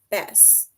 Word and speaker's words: bass: salt with a fish bass and that word it rhymes with grass right so that is